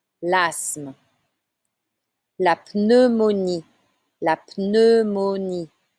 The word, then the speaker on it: pneumonie: La pneumonie. La pneumonie. You need to say the P.